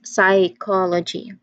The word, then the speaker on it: psychology: That initial, this is also a case of silent letter on the first of the word. We have which is also silent. So we just say it as psychology.